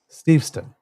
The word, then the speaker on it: Steveston: In Richmond Steveston, or Steveston. Steveston. Emphasis Beautiful on the little wrong syllable.